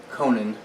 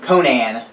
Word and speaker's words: Conan: I'm trying to pronounce Conan correctly, but I'm pretty sure if I'm doing it right, it's Conan, not Conan, which is the way I like to say it with my Midwestern drawl. But they made Conan, and the Mythic Battles